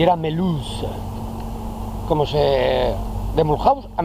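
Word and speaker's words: Mulhouse: ponía acento franc le vill mulh y era meluz como se de mulhaus a melus me acordaré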